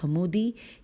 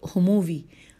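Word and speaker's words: حموی: number پہ لکھا ہے یاقوت حمودی ہے میم واو چھوٹی یاقوت ہموئی ہاں بالکل یہ میں نے ہجے کر دیے، لکھا ہے یاقوت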